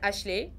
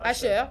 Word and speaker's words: Asher: cette photo, bisona bino, il y a Ashley. Je crois que j'ai bien prononcé son nom. C'est un artiste. Asher. Asher. Merci beaucoup pour la correction.